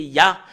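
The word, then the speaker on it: יה: l'écrit Yod he et le fait de de lire le Yod et le he c'est ya en langue hébreu voilà la raison pour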